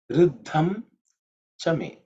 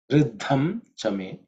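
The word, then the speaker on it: ऋद्धं च मे: So the me actually becomes ma because of Sandhi.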